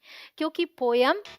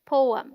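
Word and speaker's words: poem: favourite पोयम हो जाएगी क्योंकि पोयम इनकरेक्ट प्रोनंसिएशन है और करेक्ट प्रोनंसिएशन क्या है पोयम द पीओ sounds like पो एज इन गो एंड is this stressed syllable and ईएम sounds like um सो the right pronunciation is पोएम टी ओ आर टी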